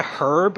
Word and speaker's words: herb: because I think of herb I think of um Homer Simpson's brother like I usually pronounce that word like the H is silent is that a cultural